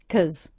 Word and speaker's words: because: also did you notice I reduced the word because to Simply KZ KZ the kwah z sound k it makes them